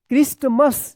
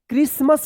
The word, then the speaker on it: Christmas: चलिए अब देखिए यहाँ पे CHRISTMAS, क्या पढ़ेंगे, क्रिस्टमस। ये गलत होगा, क्रिसमस पढ़ेंगे। क्या पढ़ेंगे, क्रिसमस पढ़ेंगे।